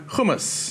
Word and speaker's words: hummus: It is crispy fried egg on hummus. Oh, yummy. I'm glad you said hummus. How do you say it? It is hummus. Hummus. Hummus. Hummus, not hummus. If one more person says hummus to me, I might just